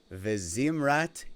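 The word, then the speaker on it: וזמרת: So, to pronounce these, it's Ozi v'zimrat Yah, Yah being the name of God, Vayehi li lishua.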